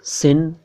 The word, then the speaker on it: सिन: इसके बाद है सिन, इसको कोई सीन ना समझे, कोई शिन ना समझे, कोई शीन ना समझे, ये है सिन।